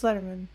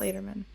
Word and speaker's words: Letterman: and Annie Annie Letterman it's a it's Letterman yeah it's not Lederman Letterman Annie Annie Letterman